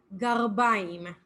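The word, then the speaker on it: גרביים: Socks are garbaim. So with an R. So you would write it in English, Garbaym, garbaim.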